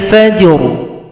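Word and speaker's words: الْفَجْرِ: Kalau berhenti ra disukunkan, berikan bunyi vokal. Wa qur'anal fajr. Fajr ada bunyi ru pada huruf ra yang kita sukunkan.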